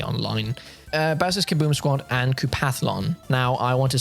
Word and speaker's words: Koopathlon: Now, I want to say sorry to everyone that I mispronounced Kooplathon. I don't know. I just thought it was Kooplathon. I thought that's how it's spelled. I read it incorrectly.